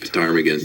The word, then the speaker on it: ptarmigan: And that, by the way, is the proper way to say it. It's ptarmigan.